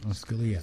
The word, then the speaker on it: Scalia: um Justice scal how do you say it Scalia Scalia and Justice Scalia said well well let's